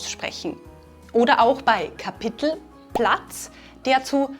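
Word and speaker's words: Stadt: We heard this in the dialogue, for example with the word "city", which we pronounce like "Stod".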